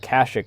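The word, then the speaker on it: Kashyyyk: Freaking calling it Kashik is very rare. That's like an Old Republic era pronunciation of it. That's the only time I ever hear it referred to as Kash Kashik is in Old Republic games.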